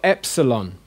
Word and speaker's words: epsilon: okay now we've got epsilon which is the e in met it's an air sound